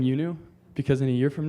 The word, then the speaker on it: IUNU: to pronounce and you see IU andu it's pronounced youu thank you all right third time's the charm